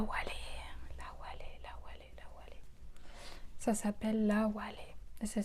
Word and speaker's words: Awalé: qui s'appelle là où elle est ça s'appelle là où aller ça s'écrit à w à l e accents aigus